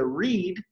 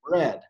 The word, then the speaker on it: read: En la forma, en el tiempo presente se pronuncia read, y en el pasado se pronuncia read, pero yeah, se deletrea igual.